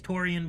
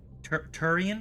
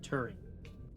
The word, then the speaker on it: Turian: I want to say it's Torian, but I feel like that's wrong. Turian? Is that how you say it then? Garrus the Turian. Okay, Turian.